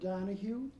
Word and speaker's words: Donoghue: it for the record i'm dr donahue donahue is spelled d-o-n-o-g-h-u-e and what's your occupation i'm a